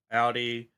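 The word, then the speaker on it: Aldi: Audi. Because I hear you say like Audi like the car brand.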